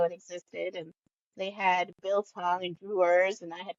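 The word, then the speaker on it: biltong: What's the difference between that and the bill tongue? Am I saying it wrong? Bit long. Bil tong. No, Bill tong.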